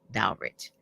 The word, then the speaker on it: Dowridge: I want to make sure I'm pronouncing your name right. L. Dowridge? Correct. Dowridge. That's right.